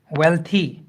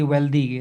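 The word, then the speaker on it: wealthy: हेल्थी, वेल्थी, इन सारी चीज़ों को सुधारना है. So these words are नॉट हेल्दी वेल्दी, they are हेल्थी, वेल्थी.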